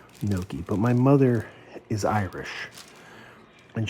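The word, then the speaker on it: Gnocchi: This word, this is pronounced Noki. Noki. My mother is Irish and she always mispronounced it ganakis growing up.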